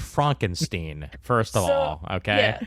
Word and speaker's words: Frankenstein: It's Frankenstein. Yes, that. It's pronounced Frankenstein.